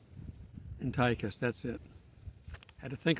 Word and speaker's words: Antiochus: throne in Syria it's not right on the pronunciation Antiochus Antiochus that's it had to think a bit I'm